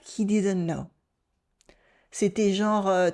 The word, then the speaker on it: genre: We pronounce it with a nasal on in the middle. Genre. It almost sounds like an o, genre, but it's genre.